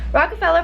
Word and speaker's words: Rockefeller: not rocker right after raka raka seller Plaza Rockefeller Plaza and we're taking the subway there because